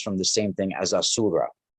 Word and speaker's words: Asura: uh shift you know and and a little syllable shift but it's it's in uh in persian it's ahura a-h-u-r-a right and it's asura in uh vedic but it's in in uh